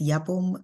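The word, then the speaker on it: Yabome: how to pronounce it it's yaboom like whom um my pronouns a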